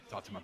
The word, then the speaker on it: Tatuman: And the Yamani main, how do you pronounce them? It's Tatuman. It's Tatuman.